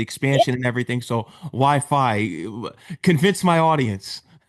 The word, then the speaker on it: Phi: Is that how it's pronounced? Yes, it is Fi. Okay. Yeah. Fi.